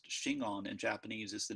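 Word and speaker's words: Shingon: mean true word and those ideograms which are pronounced chingon in japanese is the name of school of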